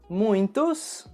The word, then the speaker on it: muito: se você reparou mas sempre que eu falo essa palavra eu adiciono um som nasal no meio da palavra portanto a pronúncia correta